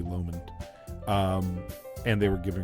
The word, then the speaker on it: Lomond: you pronounce it um I've always said lamond but I think it might be Lomond um and they were